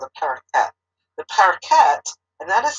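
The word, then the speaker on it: Parokhet: It's called the parakeet. The parakeet, and that is spelled P-A-R-O-K-H-E-T.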